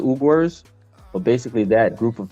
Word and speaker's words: Uyghurs: It's spelled weird, but it's called the Uyghurs.